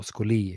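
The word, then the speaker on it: scholē: what Plato meant with the word scolae, or scholi, if you want to use that, or perhaps more Greek pronunciation.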